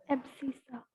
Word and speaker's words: abscissa: एब्सिसा कैसे pronounce करते हैं? एब्सिसा।